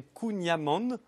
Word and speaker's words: kouign-amann: J'ai lu que c'était Kunyaman. Amand avec un N à la fin.